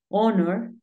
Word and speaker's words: honor: Pero hay algunos casos, como cuatro palabras, en las que la H es muda. Por ejemplo, hour, que es hora. Tenemos honor. Y tenemos honest.